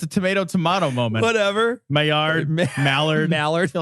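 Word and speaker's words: Maillard: in an experiment right you get a mallard reaction oh my yard ah come on it was funny not pronounced mallard though on paper that joke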